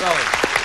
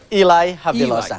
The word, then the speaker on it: Eli: California China Lake and you pronounced your name Elon Eli Eli okay cuz I called you Ellie and I apologize for mispronouncing your name I want to wish